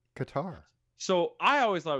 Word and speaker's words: Qatar: No, it's tar. Two A's next to each other. It's louder. It's tar. It's not tur. It's tar. It's Qatar.